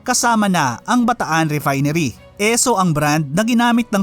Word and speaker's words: Esso: Esso ang brand na ginamit ng Standard Oil of New Jersey noon para i-market ang kanilang mga produkto. Nanggaling ito sa pronunciation ng initials ng Standard Oil na S.O.